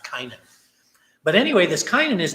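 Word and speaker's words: Cainan: It was C-A-I-N-A-N. Maybe I should pronounce it differently, like Kainan.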